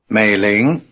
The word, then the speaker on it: 美玲: 美玲。 The tones are low, rising.